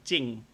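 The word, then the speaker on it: จริง: That word is spelt. So if I spell it with English letters, it would be Jring. But you do not pronounce the R in there, and there is no garon in there.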